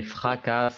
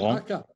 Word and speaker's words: fracas: Il s'engouffre au fond des ravines, parmi les fracas des torrents. Fracas. On ne Les prononce pas fracas. le S.